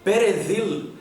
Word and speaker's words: Peredhil: Pé, Re, lembrem do R bem vibrado, e Vil, assim com a língua entre os dentes, igual à pronúncia do TH do inglês, como em these.